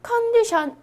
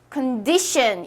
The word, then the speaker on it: condition: 모아 즌 마이 따스 큰 d 셴 자 컨디션 허 아닙니다 잘못 알고 계신 거예요 어떻게 아냐 d 요기 죄송합니당 여기 가운데에 이렇게 엑센트가 있어요 강세가 있어요 그래서 큰 dcn 이런식으로 발음은 해주셔야 하는 거예요 우리 소리 크게